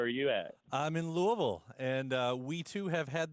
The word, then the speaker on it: Louisville: correct pronunciation yeah I'm Louisville yeah you don't really hit the Ville so hard it's like slurred both ways like imagine Elvis with marbles in his mouth yeah oh I've had